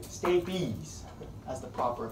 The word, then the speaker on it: stapes: start to influence me I'm influencing you right stabies as the proper pronunciation this acts under the foot plate of